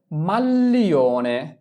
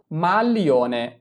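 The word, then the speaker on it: maglione: যদি আমরা লি বসাতাম তাহলে কি উচ্চারণ হইতো মালিওনে, মালিওনে, কিন্তু এটা তো মালিওনে না, এটা হচ্ছে মাল্লিওনে, তাহলে কি বসাতে হবে জি এল ই।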